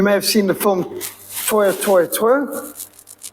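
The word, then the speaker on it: Tora: And you may have seen the film Toya, Toya, Toya. That's how it's pronounced in Japanese.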